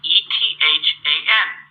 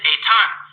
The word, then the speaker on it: Ethan: So, for example, I have a student whose name is spelled E T H an because of their family background, they don't pronounce it Ethan. He pronounces it a ton.